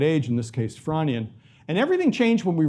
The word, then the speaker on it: Frasnian: stage known as the Fronian. The S is silent.